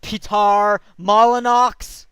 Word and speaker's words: Peter Molyneux: anyway um but anthem it's pronounced Pete are mala Knox thank you very much